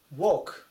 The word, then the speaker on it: walk: あります最後 Walk Walk 120 番です発音注意ですねこれでワってもし読んでワークって読むと働くっていう単語ですね W R K